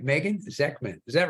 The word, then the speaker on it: Zechman: hope I say your last name right Megan zman is that right you are right you are